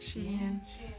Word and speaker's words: Shein: Shein.